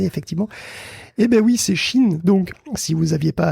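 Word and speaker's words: Shein: me dit dans les commentaires que ça se prononce ch in et je le remercie beaucoup parce qu'on va encore en parler dans cet épisode j' encore bien entendu à longueard d'épisode dit Shain Shain Shain parce que c'est pas Mo vous l'avez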